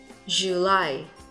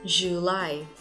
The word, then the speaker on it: July: Tháng 7, July. Trọng âm nhấn vào vị trí số 2. July.